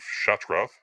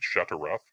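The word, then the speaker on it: Shattrath: So, anyway, 195 years ago, the Draenei established the city of Shatrath on Draenor. Some people pronounce it Shatarath. I don't know where they get the extra A from. It is separately Shatrath.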